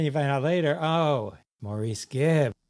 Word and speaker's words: Maurice: Right, and then you find out later, oh, Maurice Gibb. It's pronounced Morris. Morris?